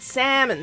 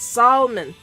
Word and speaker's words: salmon: to remind myself to pronounce it salmon not salon o r 7.6 light